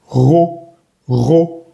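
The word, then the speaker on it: rot: Ro. No pronunciamos la T al final.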